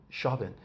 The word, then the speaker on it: Chauvin: going on, the Derek Chauvin. I guess I heard on TV it's pronounced Chauvin, but I was reading it, Chauvin. So I'm reading Chauvin, but I guess it must be French because it's Chauvin.